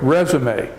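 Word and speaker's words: résumé: it's a verb but you will see a word that has little marks marks like resume it spill the same it's spelled the same and it's it's actually a French word that has we have borrowed from French into English and it means a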